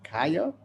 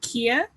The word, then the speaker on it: Kia: Is it Kaya? Hi, yes, it's I pronounce it Kia.